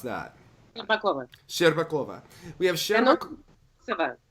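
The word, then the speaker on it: Shcherbakova: How do we pronounce that? Bakova. Sherbakova.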